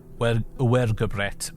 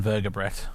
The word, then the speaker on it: vergobret: They often wrote using the Greek and Latin alphabets, which is how we know about uergobret being pronounced the way it is, uergobret rather than vergobret.